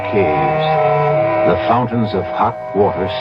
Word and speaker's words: cave: cave forlorn for myself I equate cave with the Latin word spelled the same way C A but pronounced cave it means beware our cast included Marian